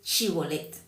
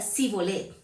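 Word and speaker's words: shibolet: Entonces le decía, "Ahora pues di chibolet." Sí. Y él decía, "Sibolet." Sí. Entonces, aunque ellos eran israelitas, ellos no podían pronunciar, ¿no? Eh, bien esa palabra chivolet, ¿sí? Y ellos decían, eh, cibolet.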